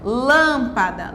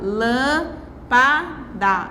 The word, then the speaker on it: lâmpada: três palavras aqui ó lâmpada lâmpada eu tenho quantas sílabas uma duas três sílabas né e eu tenho aqui uma sílaba que é acentuada pois esta sílaba que acentuada é nós temos aqui um acento circunflexo lan é também indica um som pouquinho fechado lan é a sílaba com mais força lâmpada né lâmpada o anunciei olá a